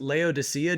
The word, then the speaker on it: Laodice: I've heard her name pronounced Laodicea, just like the city in the book of Revelation.